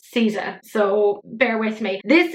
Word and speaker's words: SZA: It's spelled S-Z-A, but I believe her stage name is pronounced as Caesar, so bear with me.